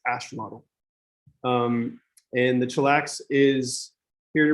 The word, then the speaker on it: axolotl: Chillax is part chinchilla, part axolotl, or if you actually pronounce it correctly, it's axolotl.